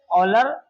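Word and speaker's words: Euler: ऑलर पढ़ते हैं इसको। इसको एक्चुअली लिखी जाती है इसकी स्पेलिंग। इस तरह इसको पढ़ते हैं हम जो है ऑलर।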